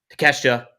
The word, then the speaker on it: Takeshita: Next up, we have that Continental title match, the Fatal 4-Way between Okada, Orange Cassidy, oh my God, Takeshita, and oh my gosh, Mark Briscoe.